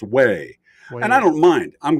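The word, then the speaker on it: Huế: uh it was pronoun it was spelled Hugh but it's pronounced way and I don't mind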